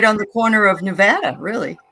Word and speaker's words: Nevada: a city spelled the same way and they pronounce it Nevada oh if you if you don't call it